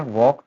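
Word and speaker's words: walk: Next है वॉक, टॉक and half, L silent, L is hiding.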